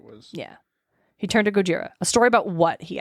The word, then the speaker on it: Gojira: to talk about Goa Gojira Gojira that's how that's how the guy pronounced it I'm like that's how the Japanese pronounce Godzilla but all right let's